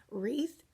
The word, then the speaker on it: wreath: Okay, so we'll start with wreath, WR digraph, and this has the ghost W. That's why it's slashed out. It's because it is silent, and we call that ghost W here.